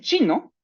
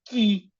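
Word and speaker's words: 七: Y el siete no se pronuncia qui porque la Q va a sonar como la ch del chavo del ocho, la ch de los chilaquiles. El número siete es chi.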